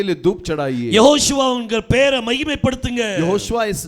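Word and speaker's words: יהושע: யெகோஷுவா. यहोशुआ है। நிறைய பேருக்கு அது உச்சரிக்க வராது.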